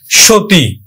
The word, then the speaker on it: সতী: সতী, আমরা দন্ত স উচ্চারণ করি না, তালব্য স উচ্চারণ করি, সো দীর্ঘইকার উচ্চারণ করি না, রস্বইকার উচ্চারণ করি, সতী।